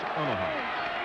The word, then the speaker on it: Onaha: Like Omaha, but it's Onaha.